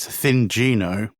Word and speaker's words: Thingino: Will, Thingino. I think the official pronunciation is Thingino.